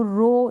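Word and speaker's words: row: ये है ओ डब् ओ डब्लू को हम ओ पढ़ेंगे अ नहीं पढ़ेंगे ओ पढ़ेंगे जैसे कि यह है आर ओ डब्लू रो इसको हम रो पढ़ रहे हैं आर को र पढ़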